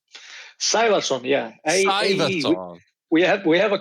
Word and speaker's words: Sævarsson: Sævarsson, yeah.